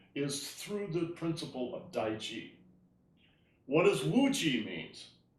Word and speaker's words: Taiji: It's actually pronounced Taiji. Taiji in China, right?